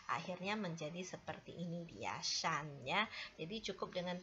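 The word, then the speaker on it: 山: Contoh yang keempat itu bacanya adalah shan.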